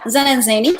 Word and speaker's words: Zen & Zany: Is that the right name to pronounce for your studio? Yeah, Zen and Zany.